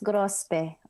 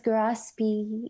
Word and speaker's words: Gorospe: Well, it depends. Sa Pilipinas, it's grospe. But if you're in America, it's grospe.